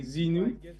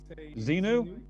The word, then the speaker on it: Zenou: I mean, it's anyone's guess, including mine, but I guess you can say Zenu. Zenu.